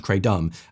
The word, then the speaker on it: kratom: It's weird that he didn't ask me at first to like pronounce it the stupid American way, though. You'd think I would have been like kratom. That sounds kray-dumb.